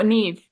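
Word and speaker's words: Niamh: So yeah, like I said, Never Say Never by Claire Forsythe.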